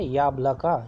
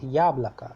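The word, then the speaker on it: яблоко: So that is why yablaka, yabloko, if you write it, but when you pronounce it, it is yablaka. So rest of the vowels are o sounds as a, yablaka.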